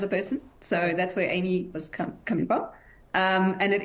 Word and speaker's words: AIMEE: AIMEE, A-I-M-E-E.